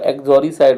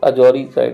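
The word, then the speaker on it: uxoricide: एक्सोरी साइड, sorry इस pronunciation का एक्सोरी साइड होगा, ये करेक्ट प्रोनाउंसिएशन, अजोरी साइड नहीं होगा, एक्सोरी साइड्स होता है मर्डर ऑफ वाइफ।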